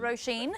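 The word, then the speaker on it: Róisín: It's not Roisin. Is it Roisin?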